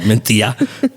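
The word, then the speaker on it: Mencía: crepe called menthia. And you got to say it like that, too. Menthia. Menthia with the th in the middle instead of the curly C.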